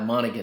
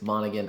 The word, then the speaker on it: Monaghan: oh cameron monaghan yeah monica that's how excuse me i butchered the name guys monaghan i said morgan now one thing i